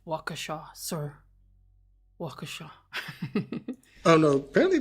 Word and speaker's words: Waukesha: I had the medical records of, hold on, Waukesha County Medical, inventory of medical, there was the medical records. Ooh, do I get to be the pronunciation police for a change? It's Waukesha, sir.